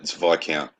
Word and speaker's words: Viscount: Oh, it's Viscount. The S is silent.